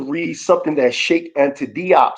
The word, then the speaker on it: Diop: One, I want to read something that Sheikh Anta Diop said. He wrote something called Pre-Colonial Black Africa on page 233. This is coming from Sheikh Anta Diop, or some pronounce Diop.